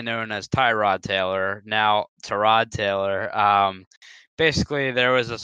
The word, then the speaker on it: Tyrod: as Tyrod Taylor now to Rod Taylor basically there was this whole like this thing that came out about how his name is actually pronounced to rod and set a tie rod and I let Bobby